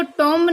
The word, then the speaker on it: tomb: तो देखो since the discovery of his tomb in 1922, इसमें भी देखो tomb नहीं होगा, ये tomb होगा, बी इसमें साइलेंट होता है।